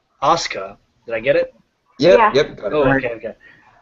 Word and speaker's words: Asuka: Asuka. Did I get it? Yep, Yeah. got it. Oh, okay. A super... She said, no, I didn't say it like that. I said Aushka. Ashka.